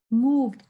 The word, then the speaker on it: moved: Chữ ed này đọc đâm là d. Moved.